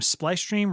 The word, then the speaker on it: Splice Stream: Just the name Splice Stream rhymes with ice cream.